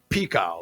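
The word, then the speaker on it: Pekau: pronounce this right but it's pico like p-e-k-a-u i don't know if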